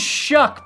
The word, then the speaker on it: Shough: He said it rhymes with it is Shuck, by the way.